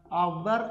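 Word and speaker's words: hour: എച്ച് എന്താണ് Silent ആണ് ഇത് നമ്മൾ ഹവർ എന്നാണോ ഉച്ചരിക്കുന്നത് അവർ എന്നാണ് ഉച്ചരിക്കുന്നത് അപ്പൊ ആയാണ് വരുന്നത് ആൻ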